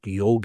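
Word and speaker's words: योग: In fact, the word yoga, which is a mispronunciation, there is no such word as yoga. The word is yog in Sanskrit.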